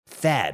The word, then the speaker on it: THAAD: THAAD, you know, it rhymes with BAD, and that's exactly what it is for your wallet.